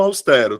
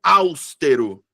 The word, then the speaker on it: austero: Voltando aqui pro austero, tá? Tem uma galera que pronuncia áustero. Áusttero. Eu fico hã, como assim? Então, sílaba tônica é a penúltima sílaba, então é paroxítona.